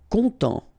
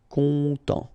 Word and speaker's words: content: Content. Final T not pronounced, so N, en as well. Content.